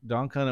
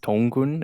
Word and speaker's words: Dongkun: Dongkun, am I saying your name correctly? It's pronounced dongkun. It's my Korean name, but mostly everyone just says like dongkun. So either one's fine.